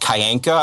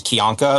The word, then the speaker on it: Kyanka: Is his last name is pronounced Kyanka. I'm just pointing out because like a lot of the more other bios out there pronounce it as Kyanka.